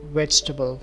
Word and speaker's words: vegetable: karellen pronounced as vegetable the e is actually silent and the word sounds more like vegetable the word as a